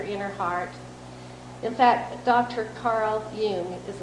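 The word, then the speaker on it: Carl Jung: you to your inner heart in fact Dr Carl Yung as it's pronounced by The yion Institute and I have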